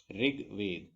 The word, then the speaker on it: ऋग्वेद: देखिए इसे प्रोनाउंस करते हैं ऋग्वेद, ऋग्वेद, ऋग्वेद, ऋग्वेद।